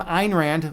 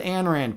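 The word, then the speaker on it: Ayn Rand: By the way, I pronounce your name Einrand, which is actually the way you should pronounce it. Everyone else pronounces it Anrand, but technically we're supposed to pronounce it in Einrand.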